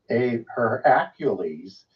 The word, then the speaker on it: Heracles: then there's a her I'm going to pronounce it a little bit differently her accules which is often conflated with Hercules but there's a Heracles God and a heraculous